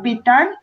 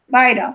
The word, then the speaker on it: vital: vital, vital, vital. It's like when you're saying vitamins. Okay. Vitamins, vitamins. La T pierde ahí sonido. Eso es lo que no. Vital. Yes, it sounds more like a R.